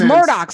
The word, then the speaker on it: Murdaugh: this Alex Murdoch situation it's Murdoch see I didn't even know how to say it I was like d-a-u-g-h that's murder I think